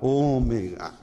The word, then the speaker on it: ômega: Ômega, ele tem esse som mais fechado, ômega. Ele maiúsculo, ele tem esse formato da ferradura, ficou meio estranho aqui, mas é mais ou menos isso. E minúsculo, ele vai ter esse formato, eu falei som, mas é o formato, ok? O nome é ômega, O como em dono.